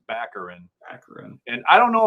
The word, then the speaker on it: Baccarin: still to this day i believe the last name is pronounced baccarin accurate and i don't